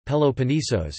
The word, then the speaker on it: Πελοπόννησος: The Peloponnese or Peloponnesus, Greek, Peloponnesos Peloponnesos, Greek pronunciation, Peloponnesos, is a peninsula and geographic region in southern Greece.